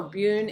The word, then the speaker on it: Bune: Boon or Bune is also, or Bim, depending on how you pronounce it, is also a really